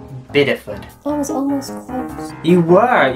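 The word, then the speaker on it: Bideford: ones but some that were like possible is pronounced biddeford that was almost you were you said bidford if you just had big e food you'd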